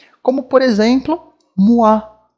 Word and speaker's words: moi: E aqui a gente vai ler como wa, ok? A pronúncia aqui vai ter o som de wa. Como, por exemplo, moi, bonsoir, moi, bonsoir.